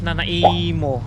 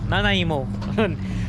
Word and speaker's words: Nanaimo: So but pronounce sila is Nanaimo. Nanaimo.